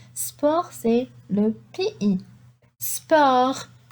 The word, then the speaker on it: sport: Sport. Sport, c'est le PI. Sport. I don't say sport, I say sport. Le T n'est pas prononcé. Sport.